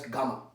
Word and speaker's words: gamma: This time one zero is extra, pronounced as gamma.